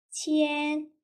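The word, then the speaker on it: 千: 링이라고 읽어주시면 되겠고요. 100은요. 빠이, 천은요. 치엔, 만은요.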